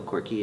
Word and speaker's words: Korke: Korke and Judith.